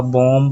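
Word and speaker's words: bomb: जहां मैंने ऊपर बताया जैसे बंब हो गया आपका बॉम बोलते हैं उसको बीडीओ एमबी ठीक है और एक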